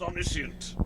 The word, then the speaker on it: omniscient: Pronounced omniscient. Omniscient. Sint. Omniscient.